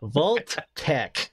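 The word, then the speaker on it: Vault-Tec: No, it says Vault Tech. Let me be very clear here. The pronunciation is Vault Tech.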